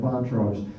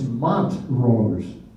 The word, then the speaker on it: Montrose: here you know that the town is not Montrose it's Mont rollers the way that would have been pronounced by Walter Scott so here's Courthouse resembling